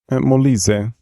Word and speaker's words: Molise: How do you pronounce that? Molise.